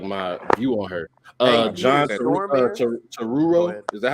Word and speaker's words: Turturro: John Turturro, is that how you say his name? John Turturro. Yeah, Turturro.